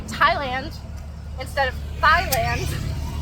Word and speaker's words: Thailand: same reason you say Thailand instead of thand anytime you see a th only say it as a t and TI they'll put